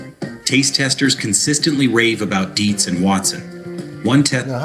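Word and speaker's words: Dietz & Watson: Taste testers consistently rave about Deetsz and Watson. One test. Now, how do we spell it?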